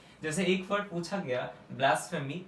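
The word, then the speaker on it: blasphemy: कुछ लोग इसको ब्लास्फेमी पढ़ते हैं, जो कि ब्लास्फेमी नहीं, ब्लास्फेमी। क्या हो गया? ये हो गया ब्लास, BLAS, ब्लास्फ।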